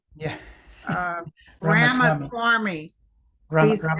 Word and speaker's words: Ramaswamy: I couldn't pronounce his name and I said swarmy, and my son said, don't use that on your show.